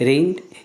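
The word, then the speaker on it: reigned: राज करते थे Dasharath रीड in Ayodhya इसमें जी साइलेंट होता है रैंबो पढ़ते इसको ठीक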